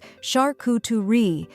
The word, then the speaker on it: charcuterie: How to pronounce charcuterie correctly. The most common pronunciation of this word in English is shar-coo-tuh-ree, with the emphasis placed on the first and third syllables.